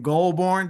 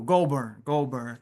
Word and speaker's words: Goldburn: Jamie Scott Jenkins, brother Goldburn. Did I pronounce that right? Yeah, that's cool. Yep, Goldberg. He said that's cool. Goldburn.